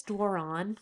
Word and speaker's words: Doiron: I really wish if I'm being so sophisticated, my name is Doiron and I wish I kept it. But that's the French pronunciation.